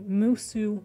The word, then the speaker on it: Musu: This one is the Musu sweater. That is spelled M-U-S-U.